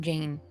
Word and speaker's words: Jane: What sounds are in the name Jane? J, A, N, right? Only 3 sounds. In English, the final E is not pronounced, it's silent.